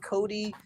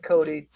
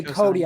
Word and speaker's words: Coda: Every time you say Cody, I think you're mispronouncing Coda. I was like, does he think there's an I at the end or something?